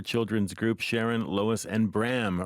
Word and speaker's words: Bram: Group Sharon Lois and Bram rhymes with ham the 2025 Juno award